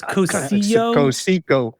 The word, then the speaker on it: Cocijo: I think it's No, it's Cocijo. Cocijo. The J is silent.